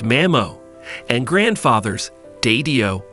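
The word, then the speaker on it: mamó: their grandkids in Gaelic grandmothers are called manio pronounced Mamo and grandfathers dadio pronounce Dojo try testing your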